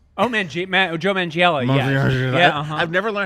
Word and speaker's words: Manganiello: Magniella? Oh, Joe Manganiello.